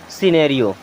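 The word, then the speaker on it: scenario: मीस होता है अंत यहां भी एस के बाद में सी आ रहा है इसे भी साइलेंट कर दीजिए आप क्या पढ़ेंगे सिनेरियो क्या पढ़ेंगे सिनेरियो एस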